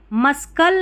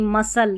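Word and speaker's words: muscle: सी देखिए कब रहता है, यहाँ पर देखिए मस्कल नहीं मसल, यहाँ पर SCLE ये वाला पैटर्न रहता है ना, तो यहाँ पर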